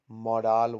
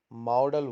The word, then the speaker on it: modal: it is is uh they do modal verb modal so that is a wrong pronunciation but how do we pronunciate it we pronunciate it as model was model how our